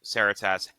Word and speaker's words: Saratas: story where, you know, Saratas, and that is how you pronounce the main character's name, by the way.